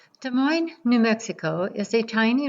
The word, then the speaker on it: Des Moines: Pronounced exactly like the Midwestern city Des Moines, it is named after the French word for monks, moines, a nod to early religious explorers and settlers. Des Moines sits in the shadow of the Raton-Clayton volcanic field.